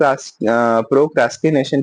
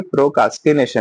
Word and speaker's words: procrastination: अच्छा कई जगह आपको प्रोनाउंसिएशन में ना प्रो प्रोक्रास्किनेशन की जगह प्रोकास्किनेशन मिलेगा। र हग जाएगा। ऐसा नहीं कि र हग जाता है। क्या होता है? वो लोग ना र का उच्चारण बहुत धीमे साउंड में करते हैं। बहुत अंदर की दबी आवाज में करते हैं। तो र बहुत क्लियर प्रोनंसिएशन नहीं करते हैं फॉरेन के लोग।